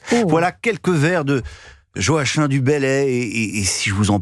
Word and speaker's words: Joachim du Bellay: Joachim du Bellay, vous avez raison de la prononcer à la manière angevine.